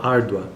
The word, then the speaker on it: árdua: o exemplo da palavra árdua. A sílaba tônica, ou seja, a sílaba mais forte que nós pronunciamos com mais força ainda em toda a palavra é ar. Então, árdua, tanto que é acentuado, árdua.